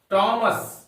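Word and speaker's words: Thomas: Edison एक वैज्ञानिक का नाम है हम लोग थॉमस बोलते हैं नहीं इसमें एट साइलेंट है नंबर सेवन में पढ़ेंगे हम लोग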